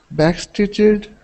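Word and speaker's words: backstitched: how do we uh how does an ed sound when a word ends with a CH back back stitched okay back stitched okay good with the T sound back stitched okay okay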